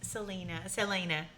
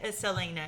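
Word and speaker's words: Celaena: Different stories that the main female character, Selena. Yes. Did I say it right? Yes. Selena. Yes. Selena, yeah. We have very different ways of pronouncing these names.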